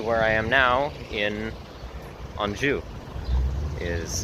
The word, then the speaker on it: Anjou: on through to where I am now in anju is how you pronounce it or I guess in a quebecue